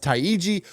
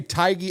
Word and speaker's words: Taigi: Now, according to some people on YouTube, her name is pronounced Taigi, but we're going to just say Taigi.